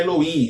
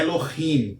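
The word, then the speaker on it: אֱלֹהִים: Observe que não é Elohim, é Elohim, ok?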